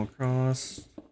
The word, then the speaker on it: across: So this will come across. Frost. I talk like my mom. Across. There's no T.